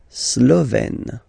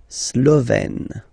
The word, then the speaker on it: Slovène: Slovène. Remember, E accent grave, you open it. Slovène.